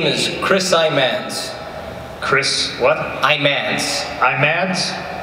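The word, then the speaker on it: Imanse: Imans. Imans? Spell it.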